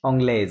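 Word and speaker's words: anglaise: এখান থেকে পড়েন, ফিমেলটা একসাথে জোড়ায় জোড়ায় পড়েন, এটা কি হবে উচ্চারণ তাহলে? অংলেজ। অংলেজ, রাইট, অংলে, অংলেজ, ফাইন।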